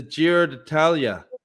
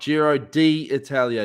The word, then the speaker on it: Giro d'Italia: love you but man it's the giro natalya not jiro d italia you're doing a heading